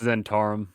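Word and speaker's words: Zhentarim: goldfish oh yeah would you pronounce that it's pronounced zentarim zentarum yeah i guess they're wrong is a lot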